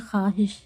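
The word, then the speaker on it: خواہش: पढ़ा नहीं जाता है खवाहिश लिखा है लेकिन हम बोलते हैं खवाहिश वाव को पढ़ा नहीं जाता वाव साइलेंट है खुश खुर्शीद तो क्या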